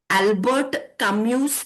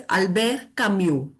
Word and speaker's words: Albert Camus: he is pronounced as Albe Camu the last S is not pronounced now Albe Camu was